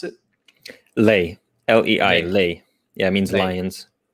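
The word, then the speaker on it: lei: um what's the romanian currency how do you pronounce it lay l-e-i-lay yeah it means lions lay okay and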